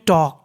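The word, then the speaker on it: talk: के उसे पढ़ते हैं टॉक क्या पढ़ते हैं टॉक अगर के से पहले एल लिखा होता है तो हम लोग एल का उच्चारण नहीं करते और आखिरी में है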